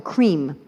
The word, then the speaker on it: cream: So if you want to talk about the cream, C-R-E-A-M, you don't say cre-em, right? You say E and the A join and they make a new sound.